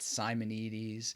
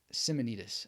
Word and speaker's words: Simonides: By the way, some people pronounce it Simonides, Simonides. There's lots of ways of doing it. But Simonides, I think, is good.